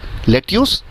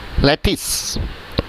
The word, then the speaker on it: lettuce: कैसे प्रोनाउंसिएट करते हैं हम इसे? लेट्यूस? नो. हम प्रोनाउंसिएट करते हैं लेटिस.